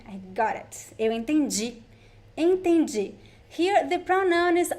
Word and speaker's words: entendi: Entendi or eu entendi. The DI sound sounds like G. G. Entendi.